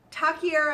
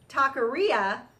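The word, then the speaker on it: taquería: last but not least taki era actually we always called it taki era Guadalajara but I look at the spelling and I think I think we've been mispronouncing it in my family talk taqueria Guadalajara and it is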